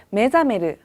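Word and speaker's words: 目覚める: 메자메르. 네, 이때 주의하실 점은요. 원래 이 매를 떼고선요. 이 단어만 사용하실 때는요. 사메르라고 읽는다는 거예요. 근데 앞에 눈목자가 붙었기 때문에요. 이때는 읽을 때 메사메르가 아니라 메자메르라고 읽는다는 점이에요.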